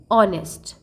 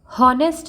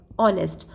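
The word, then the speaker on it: honest: हम कुछ इंग्लिश में शब्द यूज करते हैं ना जहाँ पे हमें एच जो है, एच शब्द साइलेंट होता है, जैसे ऑनेस्ट, हॉनेस्ट नहीं कहते हम, ऑनेस्ट, ऑनेस्टी इज द बेस्ट policy, like that.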